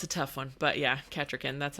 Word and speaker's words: Kettricken: into Kettricken Oh, Kettricken. That's one of the names that gets butchered in later things is they say Kettricken and it burns me up, honey. It's Kettricken.